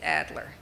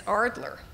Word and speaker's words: Adler: finally had to say spell it any way you like but i'm saying it's adler and so they released it with the name with her name as ardler she says i'm not